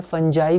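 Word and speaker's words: fungi: तो जैसे यहाँ पर फंगाई है, उसका फंगी भी प्रोनाउंसिएशन होता है, फंगाई भी होता है, फंजाई भी होता है, ठीक है।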